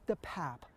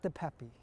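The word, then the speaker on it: DePape: attorney says the suspect's name is actually pronounced David the pap not the Pepe at the time that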